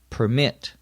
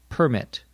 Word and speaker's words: permit: Notice when we use it as a noun, the accent is on the first syllable, permit. When we use it as a verb, the accent is on the second syllable, permit.